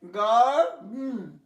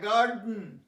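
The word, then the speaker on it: garden: GARDN, গার্ডেন, দেন নয়, এটা silent হয়ে যায়, গার্ডেন, গার্ডেন।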